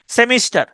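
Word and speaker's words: semester: যাই হোক তাহলে কেরোসিন এবার দেখেন মেসেঞ্জার মেসেন মেসেন এমই S mass SE এন সেন জিই আর মেসেঞ্জার ম্যাসেঞ্জার সেমিস্টার এসই এমই এস টিই আর সেমিস্টার উচ্চারণটা হচ্ছে সিমেস্টার ঠিক আছে সেমিস্টার মানে তো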